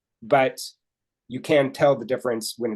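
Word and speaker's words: différance: uh English you can I guess it kind of works difference but spelled with an A d-i-f-f-e-r-a-n-c-e okay and what he wants to show is actually in spoken language that you can't tell the difference if I say difference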